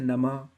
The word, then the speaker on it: नमः: याद रखना ह क्योंकि विसर्ग के उच्चारण में ह का उच्चारण होता है हल्के से ह का उच्चारण होता है जैसे नमः ठीक है शिवाय नमः